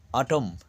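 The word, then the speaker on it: autumn: থাকে দেখো প্রথমে আসি অটম এ ইউ টি ইউ এম এন দেখো এন এর উচ্চারণ এখানে নেই তার উচ্চারণ হচ্ছে অটম অর্থাৎ শরৎকালে কন্ডেম সি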